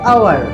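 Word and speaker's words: hour: कहता है है कि जो शब्द एच से शुरू होते हैं और उनमें एच साइलेंट रहता है तो उनसे पहले भी एन का प्रयोग किया जाता है for example an आवर an honest man एन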